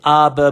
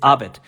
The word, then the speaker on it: abet: simply complements the word we don't pronounce we don't say abba but we just say abit now the only thing